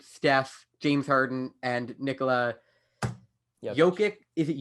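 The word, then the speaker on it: Jokić: We got LeBron, Anthony Davis, Giannis, Luka, Kawhi, KD, Damian Lillard, Steph, James Harden, and Nikola Jokic. Is it Jokic? Jokic. Nikola Jokic. I have a hard time pronouncing that.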